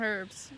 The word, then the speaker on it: herbs: want to grow some herbs some herbs she said she wanted to go there's an H in it but you don't pronounce it is so but we're